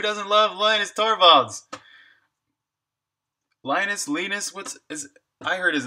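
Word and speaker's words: Linus: is Lena thoralds and I pronounced lenux as lenux so I think it is lenus but Conrad Zeus who's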